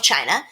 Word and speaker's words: Qin: charge of all of China. This guy's name was Qin Shi Huangdi. I'm going to write it and show you something cool I learned about Chinese. So, this is pronounced like chin.